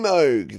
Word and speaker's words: Moog: Favorite synth is Mini Moog.